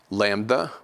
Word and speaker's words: lambda: Lambda will be pronounced like L in English, like light, light.